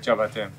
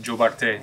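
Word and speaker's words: Diabaté: So Jurbate over there is Jabate here. Jabate. In Gambia, they say it like that too, right? Jobarte. Yeah, Jobarte, exactly. Jobarte. Because of the English influence in mm-hmm. the language. Mm-hmm. The English influence in the language.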